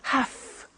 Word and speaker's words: have to: a computer at work now did you hear my pronunciation I have to notice I don't say V I say F have half it becomes have to have the two becomes